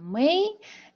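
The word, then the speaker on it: 美: пишите пожалуйста в чате как он произносится во-первых динара верно произносится мэй и значит красота да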